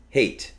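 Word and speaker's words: Haight: called the hate street can you say hate and hate well it's it's actually a name it's h a i g HT so say it hate and say h a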